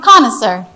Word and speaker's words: connoisseur: The second syllable is a schwa. A schwa means you don't stress on it. Okay? And then you have the first syllable, you stress on it, and the last one. Okay? There's 3 syllables in this word.